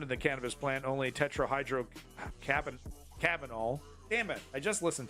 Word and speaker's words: tetrahydrocannabinol: In addition, the tetrahydrocannabinol, cannabinoidal?